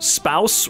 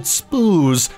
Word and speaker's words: spouse: but it Rhymes wait spouse rhymes with house I always pronounced it spoos in my head why is